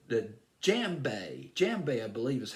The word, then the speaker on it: djembe: It's called the first instrument he learned how to play was called the djembe. Djembe, I believe, is how you pronounce it.